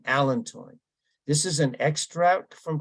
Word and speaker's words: allantoin: extract from comfrey called allantoin. And different people pronounce this different way, but I heard it on the pronounce app this morning, allantoin.